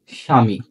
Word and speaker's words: স্বামী: হয় হ্যাঁ এবার আসো যদি শব্দের শুরুতে তাহলে বসে তাহলে সেই ব ফলা কখনো উচ্চারিত হয় না তাহলে প্রথমে আমরা আসি